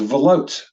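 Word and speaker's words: וְלוֹט: This is pronounced velot, velot. So the shva operates in the capacity of a vowel. And that syllable says va. And then lot is a closed syllable.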